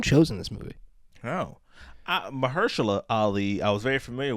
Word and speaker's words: Mahershala: Your Mother, starring Marshall Ali. Marshall? Is it not Marshall? It's Mahershala. Is it? Yes, it's Mahershala Ali.